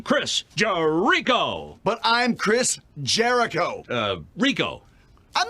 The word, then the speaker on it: Jericho: Chris Jerico uh Jericho jerko not jerko Jericho three syllables Jericho oh like the Bible exactly the walls of